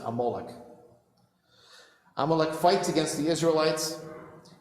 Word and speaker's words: Amalek: it's a nation called amalek and you should pronounce it amoloch amalek fights against the